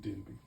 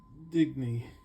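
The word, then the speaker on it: Dibny: And that was the detective story, and he does talk about his wife, everyone's favorite character, Sue Digby, right? Digny, right? I keep saying it wrong.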